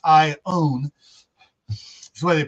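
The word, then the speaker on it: Iona: It's ION, but it's not Ion. It's Ione. That's the way they pronounce it here.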